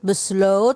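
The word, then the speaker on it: besluit: troken troken beslut Alibaba besl bukan beslut beslot ohya mulutnya dipanjangkan bes Alib Pro ingat-ingat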